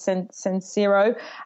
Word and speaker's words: Sincero: I can't pronounce her surnames. It's Sincero.